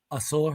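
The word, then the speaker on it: Ausar: That's Amen over Azor, or is his name pronounced Azor? Asor, A yeah.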